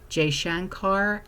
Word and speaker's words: Jaishankar: Well, Secretary of State Marco Rubio has urged de-escalation, speaking with India's, how the heck do you pronounce this? It's Jaishankar and Pakistan's Shehbaz Sharif on April 30th, and the U.S.